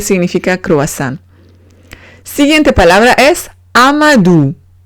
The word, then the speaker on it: Amadou: Siguiente palabra es Amadou. Amadou. O-U se pronuncia U. Amadou. Amadou es nombre de chico.